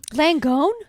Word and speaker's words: Langone: it's the nurse from uh NYU langone um langone yeah that's how you pronounce it what' you think it was oh